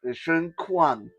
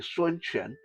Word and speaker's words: Sun Quan: Sun Quan, in English, some people tend to pronounce it Shun Quan, but it's actually Sun Quan.